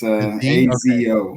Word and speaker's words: Asio: It's with a Z. So it's ASIO.